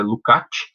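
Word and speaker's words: Lukács: vocês vierem vai estar escrito lucas mas a pronúncia correta é lutar e o look a tile vai trabalhar basicamente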